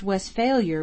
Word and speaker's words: Westphalia: judgment is greatly overrated it is pronounced west failure with the accent on the last part where it belongs in germany however there